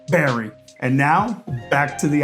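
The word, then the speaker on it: Barre: And I now appreciate the fact that B A R E is pronounced Barry.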